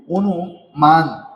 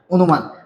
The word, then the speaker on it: অনুমান: অনুমান শব্দটার উচ্চারণ দেখেন অনুমান শব্দের অ এর পরে কি রয়েছে রসু রয়েছে তাই এখানে অ এর উচ্চারণটা কি হয়ে যাবে ও হয়ে যাবে অনুমান অনুমান তারপরে দেখেন অত্যাচার এই